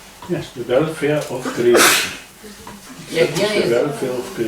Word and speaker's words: yajna: in a proper way is also called a yajna. И использование секса так, как положено, в соответствии с законами природы, называется ягья. Тоже является ягной. Yes, the welfare of creation. Yajna The is welfare of creation.